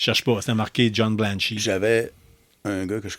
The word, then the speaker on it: Blanche: Encore, ça se prononce Blanchie, mais c'est Blanche, le nom.